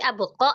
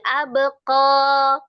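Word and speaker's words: أبقى: Nah, jangan di abqo ya. Jangan ada hamzah hamzah sukun ya. Abqo dua harakat aja.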